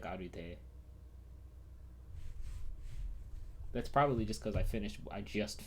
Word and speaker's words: Arte: So you pronounce the E at the end of Arte like the Japanese do. Yeah, that's how I read it. I read it like Arute.